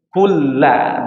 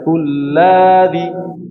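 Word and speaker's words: كُلَّ: Terus terus selanjutnya adalah kulla, satu harakat. Jangan sampai kulladhi.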